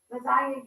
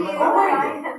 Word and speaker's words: lasagna: Lasagna, you can't really hear the G. You in there. can't hear the G in lasagna.